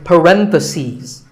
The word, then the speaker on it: parentheses: If you're talking about both, the plural is parentheses. The last syllable becomes C's. Parentheses.